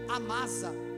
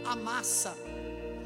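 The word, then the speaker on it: Amasa: de Joabe ele colocou a massa ou a massa Alguns chamam o nome desse homem de a massa mas só tem um s no português por isso outros pronunciam como a massa ele colocou aí Troféu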